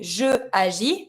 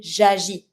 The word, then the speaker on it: j'agis: So instead of saying je agis, that means like there's a cut in the pronunciation because you're going to have to pronounce two vowels next to each other. It's not smooth anymore. We're going to be saying j'agis.